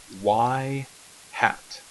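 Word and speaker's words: ŷ: get from our regression line now this is pronounced y hat and it's just a y and you put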